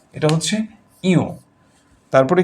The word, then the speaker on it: ঞ: এরপরে আমরা এটাকে নিয়ও বলে থাকি। নিয়ও নয়। এটা হল ইও। যেভাবে আমরা উ বলেছি এভাবে ইও। এটার উচ্চারণ ইও।